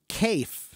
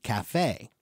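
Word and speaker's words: café: we would pronounce it Kafe but it's not an English word it's a French word so we keep the French pronunciation when pronounce it Cafe okay that's the kind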